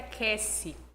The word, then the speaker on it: Cassi: Meu nome escreve Casse, mas eh a pronúncia é Kesse.